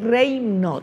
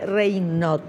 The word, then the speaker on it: Raynaud: y el síndrome de reyot se escribe así pero se lee reyot y vamos a ver